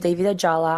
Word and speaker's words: David Ajala: So, we are here with Guy Pierce and David Ajala. Am I saying that right? I don't want to butcher it. Oh, great pronunciation.